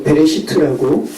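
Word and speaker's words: בראשית: 그래서 베레시트라고 발음하는 그 책입니다.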